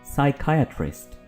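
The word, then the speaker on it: psychiatrist: ठीक है टूम टूम इसको हम साइकेट्रिस्ट नहीं बोलेंगे बल्कि हम बोलेंगे साइकेट्रिस्ट इसमें पी प्रोनाउंस नहीं होगा कुछ लोग इसको एग्जीक्यूटिव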